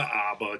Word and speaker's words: ABBA: And I'll listen to Abba. Geez. Yeah. All right. I You have to pronounce it like a Midwesterner.